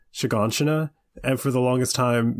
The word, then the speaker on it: Shiganshina: said Eren twice, Armin are from is called Shiganshina. And for the longest time, me and Bill didn't know how to pronounce it, and he would call it Chicken Shima, which is very close to that guy's name.